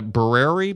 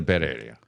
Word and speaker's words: birria: Vito's Tacos, and it's a birria birria birria birria birria birria It's a guisado.